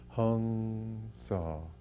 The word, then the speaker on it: Hong-Sau: parts of india but the way that my guru my teacher paramhansa yogananda used to put it was hong saw hong i am he i